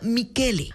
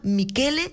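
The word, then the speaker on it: Michele: más cercanos explican que ni siquiera se pronuncia Así que este Michelle se pronuncia mikele Así que el nuevo ministro de gobierno del Ecuador se llama mikele sensi cont tui es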